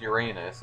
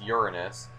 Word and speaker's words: Uranus: system that has an atmosphere so yeah there's uranus and i've mentioned in one of my previous videos that it's not pronounced uranus it's uranus that's the correct pronunciation but yeah basically uh